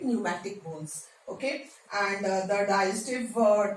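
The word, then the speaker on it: pneumatic: PNEU, P silent, न्यूमैटिक bones, okay.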